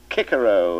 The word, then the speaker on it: Cicero: i admit that i i don't agree with the new pronunciation i never did a lot of nonsense in my opinion making boys say kikero at school when um for the rest of their lives they'll say cicero if they ever say